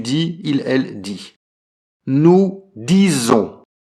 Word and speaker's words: disons: Nous disons. Attention à la prononciation, disons. Donc on prononce comme un Z.